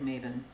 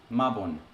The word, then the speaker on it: Mabon: Okay, this says it sounds like Maven. Maven? Maven. I doubt that. I doubt that the Welsh are saying that. Hold on a sec. Not even they have a pronunciation. Ooh, it's from the Proto-Celtic Makwo, meaning sun. Nice. Are any of these going to be responsible enough to have a pronunciation? No. No. Because it's just a translation of what's already there. No, no, not necessarily. Here we go. Mabon.